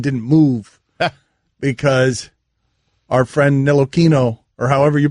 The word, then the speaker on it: Ntilikina: I believe he pronounces it Ntilikina.